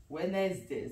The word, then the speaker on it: Wednesday: it's w wedness day Wednesday so Wednesday how is it Wednesday where is the D where is the H where is is Wednesday